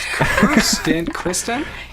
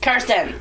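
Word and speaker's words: Kirsten: And and we had our special interrupting guest, Kristen. You fuck. set the record Oh. straight. What's your name? Karsten. Spell it.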